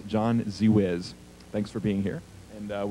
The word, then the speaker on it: Zewizz: Pronounce your last name, please. Z-Wiz. Z-Wiz. John Z-Wiz.